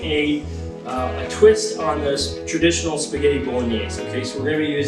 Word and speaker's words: spaghettis: We don't pronounce the S, and it sounds like spaghetti.